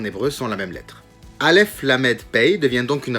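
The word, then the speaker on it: אלף: peu plus en profondeur quand je prononce la lettre Alef qui s'écrit Alef on entend également un L et un f si on retranscrit ça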